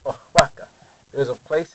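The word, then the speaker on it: Oaxaca: a state of Mexico it's spelled like this and the word is ohaka aaka now it has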